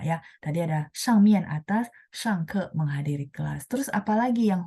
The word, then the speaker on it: 上: Ya, bacanya shang.